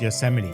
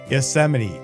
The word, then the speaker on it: Yosemite: She didn't know it's pronounced Yosemite. So it's just one of those things. If you haven't heard it before, you haven't seen it written down, it can be a little difficult to say. Yosemite.